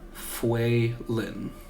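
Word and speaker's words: Foalin: F-O-A-L-I-N, but pronounced Fuelin.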